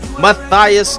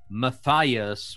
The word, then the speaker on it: Matthias: too much about, but Matthias would be the British pronunciation. Oh, Correct German pronunciation is actually slightly different, but walang problema, as we say here in the Philippines. Matthias. Matthias.